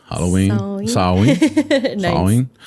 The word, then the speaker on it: Samhain: Yeah, it was like Sawayn. And they don't pronounce all of their vowels and consonants either. So it's Soris. Yeah. Sorsha. It's very different from how you spell it to how you pronounce it.